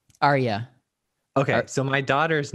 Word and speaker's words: Aryé: you i'm super excited do i pronounce your first name r yeah it's arya arya oh god i think